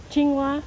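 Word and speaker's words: 青蛙: way how do you say frog in Chinese chingua chingua chingua whoa it Rhymes wa chingua diu why are we like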